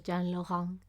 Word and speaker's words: Jean Laurent: Well, they call him Juan Lauren, basically, because that's how they would have pronounced it in Spain. But well, suppose he was Jean Laurent. Should be the proper way of calling him.